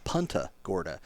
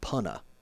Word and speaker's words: Punta Gorda: try to tell them it's not even Punta Gorda. It's Punna. There's no T in Punta Gorda if you're a local.